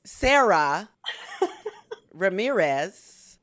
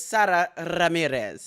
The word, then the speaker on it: Sara Ramirez: Saxon uh pronunciation is Sarah Ramirez but I think I got it right it's Sarah Ramirez did I get that correct you you really rolled that R and you also got